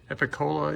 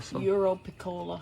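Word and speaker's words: Europiccola: Oh, Epicola, Eurocola. Europicola.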